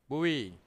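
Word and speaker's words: GUI: যে বলে দিছে যেগুই এটাকে এভাবে বলতে হয় বুঝতে পারছেন তো গুই দেখছেন উচ্চারণটা কেমন ওরা কিন্তু বলে দিছে পাশে যে এটাকে উচ্চারণ করবে এভাবে গুই ওকে সো এজ শোন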